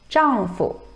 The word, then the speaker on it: 丈夫: Note that in 丈夫, fu is pronounced with the neutral tone. 丈夫, 丈夫, husband.